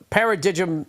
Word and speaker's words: Paradigm: I'm looking that up anyway from getting oh Paradigm away from getting a smooth shave to getting